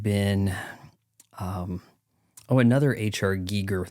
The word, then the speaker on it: Giger: um oh another HR Giger that's how you pronounce it by the way YouTubers gigger gigger design film um gosh